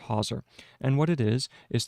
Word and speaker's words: hawser: We have twisted rope, but then we have hawser, and that's spelled h a w s e r, hauser.